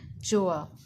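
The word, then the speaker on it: Gjøa: The pronunciation is given here, Joa.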